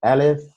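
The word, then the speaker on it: ألف: pronounced the scene so alif is an a sound also like iron is an open a sound and then scene is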